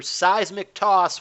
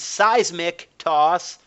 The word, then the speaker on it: Seismic Toss: by the way, guys, is pronounced Seismic Toss. Little fun fact, because my wife and I have been playing Pokemon Stadium, and the stupid announcer calls it Seismic Toss, whatever the fuck that is.